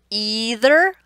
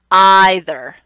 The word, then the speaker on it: either: at the screen, then you were getting either, either. Those were the top 2. Either, either. Here's an example again in English where we have 2 correct pronunciations for the same word.